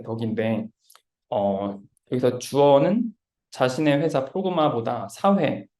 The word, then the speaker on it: Progmat: 그래서 발음은 프로그마트가 아니고 프로그마 T가 묵음이라고 합니다.